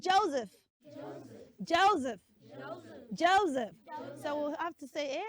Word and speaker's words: Joseph: z sound there yes the letter s in that name is z not s so it's Joseph say Joseph Joseph Joseph Joseph Joseph